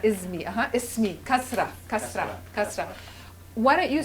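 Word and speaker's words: كسرة: With a s sound, right? Like ismi. Like ismi, not ismi. Ismi. Kasra.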